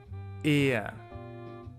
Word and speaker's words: er: Then this one is a very flat E. It's pronounced E, er, which means he.